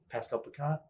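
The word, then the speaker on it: Pascal Picotte: Pascal Picat? Is that how you say his name? Yeah, you got it.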